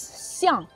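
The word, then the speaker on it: 象: Parce qu'en chinois, éléphant on prononce xiang.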